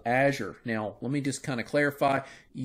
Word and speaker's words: Azure: Microsoft's cloud service that does this, their IaaS service, is called Azure. Now, let me just kind of clarify. You may pronounce that name, that word, a little different than I do, Azure or Azure or Azure.